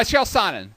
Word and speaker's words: Chael Sonnen: Is that how you pronounce his name? Yeah, Chael Sonnen.